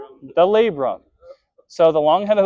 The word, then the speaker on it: labrum: It rhymes with mabrum. The labrum.